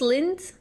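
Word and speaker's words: Lindt: It's pronounced just lint.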